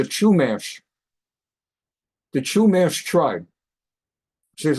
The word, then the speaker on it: Chumash: an Indian tribe here called the Kish they pronounce it the Chumash the Chumash tribe so